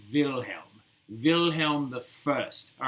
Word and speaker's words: Wilhelm: it in english it's william but if you're saying it in german it's wilhelm wilhelm the first all